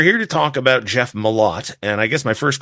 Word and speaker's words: Malott: on so we're here to talk about Jeff mot and I guess my first question is is that how you pronounce his name yes absolutely nailed first try